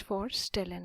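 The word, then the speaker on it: vorstellen: f it is the instead of using an F here I am using here for stellin I'm using the let which uh a letter which resembles our letter V in English let's see here so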